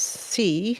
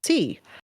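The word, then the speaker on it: 四: it says in in the number four is pronounced as C I don't know if I'm saying that right which sounds similar to the word for death C well anyway I don't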